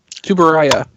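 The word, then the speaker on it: Tsuburaya: The opening refers to him as Ultraman, but I can never pronounce the name of the company that does Ultraman. Tubaraya.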